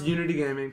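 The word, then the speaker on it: EUnity Gaming: We pronounce Unity Gaming. People Yeah. are starting to learn that, but it's spelled with the EU.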